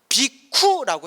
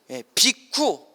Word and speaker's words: 비구: 비구가 비쿠라고 해요. 원래 발음이 뭐라고 한다? 비쿠 발음 잘해야 돼요.